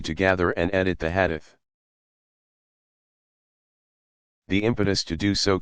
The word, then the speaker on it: hadith: This material is known collectively as hadith, sayings or traditions, pronounced hadith.